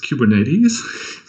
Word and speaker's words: Kubernetes: have these weigh little things and actually it's pronounced Cuban Eddie's like a notice of you a few Germans